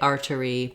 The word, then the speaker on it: artery: r diphthong and then this t in the middle uh sounds more like a d in american english so i would say r der e artery that's because the t is between two uh vocalic r sounds two between two vowel sounds and so we make it more as a flap you can say artery